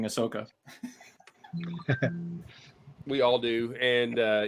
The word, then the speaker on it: Ahsoka: phase her at all and then I do it on purpose just because it makes Mark go you know it's not pronounced that way foreign what are you talking about I say Ashoka all the time now just for her